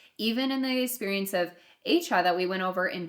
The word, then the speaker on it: Achan: So I think Achan is more like Achan.